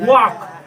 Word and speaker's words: walk: WALK वॉक। वॉक माने क्या होता है? L नहीं पढ़ेंगे, साइलेंट हो जाएगा। WA से वॉक, K से वॉक।